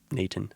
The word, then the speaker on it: n8n: I know it's a little weird, but it's pronounced Nathan, I guess.